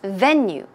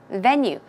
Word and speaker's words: venue: so venue is pronounced venue venue the stress goes on the first syllable and just to help